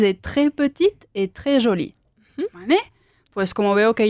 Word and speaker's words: jolie: La E del femenino nunca suena.